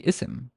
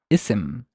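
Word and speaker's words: اسم: starting with this word you have to pronounce an imaginary Hamza and it's only when you are starting speech as in you are just pronouncing this word only I would say isim oh or or this word is the first thing of your sentence or the first thing of your speech I would have to pronounce this as isim keep in mind put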